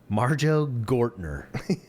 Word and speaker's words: Marjoe Gortner: Marjoe Gortner.